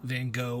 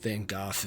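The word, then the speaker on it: Van Gogh: my favorite post-impressionistic painters Vincent Van go or van goof if that's how you want to pronounce it I borrowed his star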